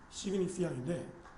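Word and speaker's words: signifiant: 시그디 프랑스어니까 뒤에 T 발음이 안 되니까 시그니피앙인데 이거 시그니파잉 정도 되겠죠. 영어로 하면.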